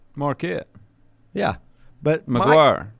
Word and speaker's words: McGuire: just got the name wrong you you just mispronounced the name marquette yeah but maguire maguire i said mcguire you said mcgraw no i